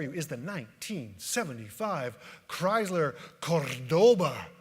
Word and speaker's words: Cordoba: Right here before you is the 1975 Chrysler Cordoba. You got to roll your R's on that one. It's very Spanish sounding.